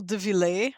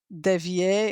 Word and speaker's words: Devillé: It's pronounced Devillé. Devillé. Devillé. Yeah. Devillé. Even if it has two L's, it's not Devier, it's Devillé.